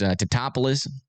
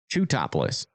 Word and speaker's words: Teutopolis: Yeah, still some pretty decent rotation heading up towards Teutopolis. Or, how do you say that? Teutopolis.